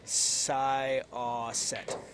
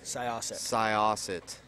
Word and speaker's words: Syosset: They're correcting my pronunciation in chat. How does it? Syosset. Syosset.